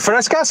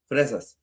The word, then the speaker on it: fresas: Is it frescas? How do you say strawberries? Frescas, yeah. Fresas, yeah.